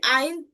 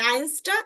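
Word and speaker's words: ein: আইন আইনটা মানে আইনসটা আইনস হবে না এগুলোর ক্ষেত্রে আইন হবে আইন উচ্চারণ হবে কি হবে আইন উচ্চারণ হবে অর্থাৎ এসটা আমরা নিব না এস শুধুমাত্র আইনস বলার সময় আইনসটা নিব অর্থাৎ ওয়ান যখন বলব তখনই শুধুমাত্র আমরা এসটাকে নিব বাকি কোন ক্ষেত্রে আমরা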